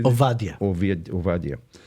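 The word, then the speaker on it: עובדיה: How do you say ovadia?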